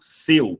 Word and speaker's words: seu: Lembra daquele pronome possessivo, seu, quando eu falo assim, olha, você estacionou o seu carro aqui na frente. Seu também é um ditongo, só que repara que o eu é fechado.